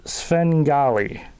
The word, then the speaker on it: Svengali: saying it right Alice the movie is called Svengali Alice no that is that is a horror